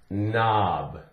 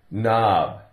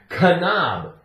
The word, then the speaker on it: knob: here we're talking about in words that begin k n the k is silent the K is silent all you here is nnnn for example we have the word knob knob take off the K